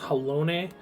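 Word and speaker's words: Halone: is kind which honestly i cannot get over the fact that that is pronounced hellone i've heard i heard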